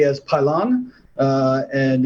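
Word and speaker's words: Pilon: uh the reason why I know it's it's pronounced pylon is uh uh Steinbach wrote a book called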